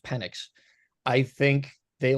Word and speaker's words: Penix: I think they take penix Jr I I or penx it's pronounced penck I think they like